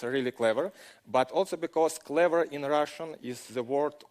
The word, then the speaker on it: Clever: clever but also because clever in Russian is the word for clover yeah it's pronounced clever and four leaf clover